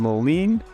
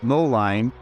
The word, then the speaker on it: Moline: is the city of Moline sometimes you'll hear Outsiders say mo line it's spelled like Mo line but it's pronounced Moline that one's not as